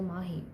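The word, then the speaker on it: Maahi: of having one a my name has two A's either ways it's still Mahi right it's still Mahi it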